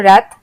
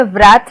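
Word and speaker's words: wrath: फिर डब्ल्यू जैसे रैथ, हम इसमें व्रैथ नहीं बोलते हैं, हम आर से शुरू करते हैं प्रोनाउंसिएशन, रैथ, और डब्ल्यू होता है साइलेंट।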